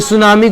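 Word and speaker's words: tsunami: उसी को बोलते हैं सुनामी ए गई सुनामी की स्पेलिंग कुछ इस टाइप की होती है कोई सुनामी को टी नहीं बोलेगा लेकिन टी लिखते जरूर है यह जापान यह जापानी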